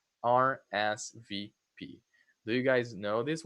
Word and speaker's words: RSVP: It's also an initialism. You say letter by letter. RSVP.